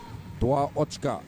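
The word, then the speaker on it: два ачкі: Dua Ochka is how you say 2 points in the Belarusian language.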